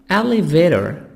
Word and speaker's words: elevator: Elevator, elevator, British, American, elevator, T soft D. Elevator, elevator, lift. Elevator, T soft D and R, elevator.